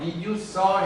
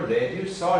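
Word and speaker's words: reducer: 이게 이제 발음이 레듀스 해도 되고 리듀스 해도 되는데 줄이다 줄이다. 그래서 R을 붙여서 리듀서 해도 되고 레듀서 해도 되는 거예요.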